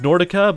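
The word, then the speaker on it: Nrdca: better Improvement than that it's pronounced Nordica but it's in our DCA because uh vowels were taken apparently lovely anyway Nordica that's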